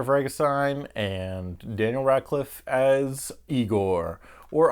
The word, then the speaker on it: Igor: The one with James McAvoy as Victor Frankenstein and Daniel Radcliffe as Igor, or EyeGor, depending on how you pronounce it. But they told me it was Igor.